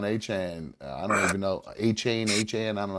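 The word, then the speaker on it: Achane: Achain. Han. I don't know how to say his name. Chase Brown went Achan. That's how you say it.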